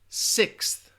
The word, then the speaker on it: sixth: it after me six I think it ends with that that that X and then you got a transition into the th six six six six